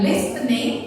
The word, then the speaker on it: listening: The T is silent. Not listening. Bukan listening, but it should be listening.